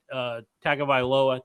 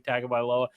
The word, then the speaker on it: Tagovailoa: Maryland is a team led by Tagovailoa, I believe is how you say his name, Tagovailoa.